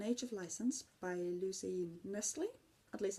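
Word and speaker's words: Knisley: It was An Age of License by Lucy Nestle. At least I assume the K is silent.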